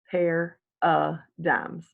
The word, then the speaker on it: paradigms: for perceptions is paradigms pronounced the way you see it laid out there pear dams a paradigm is the